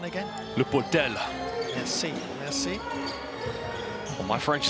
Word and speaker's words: Le Portel: Can you say that pronunciation again? Le Portel.